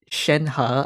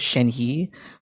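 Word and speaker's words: Shenhe: the five star is shenha i asked someone like how do you pronounce her name because i i thought it was shen he but someone said shen ha with the you know ha sound so i was like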